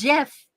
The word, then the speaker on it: GIF: It's not GIF, it's GIF. It's Yep. GIF is a peanut butter. It's a tasty peanut butter. That's how the guy who created it wants it to be pronounced.